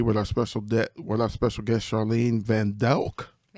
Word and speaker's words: Van Dijk: We are here today with our special guest, Charlene Van Dijk. Van Dijk. Okay, that's not how it's spelled.